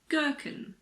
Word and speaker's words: gherkin: If a word begins with GH, the H is silent, like in the words gherkin, ghetto, ghost.